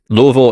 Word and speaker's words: Louisville: And let me tell you something about Louisville. Well, when I was flying in, of course, that this is not the the way to, or Louisville is the proper pronunciation of it, but I came in,